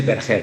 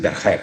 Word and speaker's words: Berger: In Spanish we say Berger. My great grandfather was French, but in Spanish it's Berger. But every country pronounce my last name, so it doesn't matter.